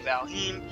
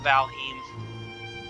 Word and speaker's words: Valheim: to say that pardon me wants to say valheim uh i do have some nordic blood in